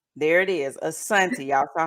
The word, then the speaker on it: Asoniti: Okay, so it's Asoniti. The first I is silent. There it is, Asonti.